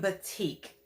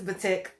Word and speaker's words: batik: let's do the syngonium batik okay or but tick i think it's batik everybody else says batik whatever you you you